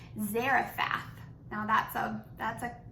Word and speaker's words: Zarephath: the town I want to say it right Zarafa now that sub that's a fancy word so there was a town called Zarephath and he told Elijah to go there and